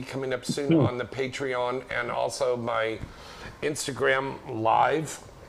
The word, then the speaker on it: Patreon: Is that how it's pronounced? Yes. Patreon.